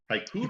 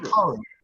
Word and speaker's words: Hikaru: Haikuru. Hikaru. Pardon? Haikuru. Hikaru? Haikuru. No, Bob's got it. How did you pronounce that?